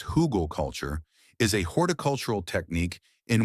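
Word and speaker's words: Hügelkultur: Hugelkultur, pronounced hugel culture, is a horticultural technique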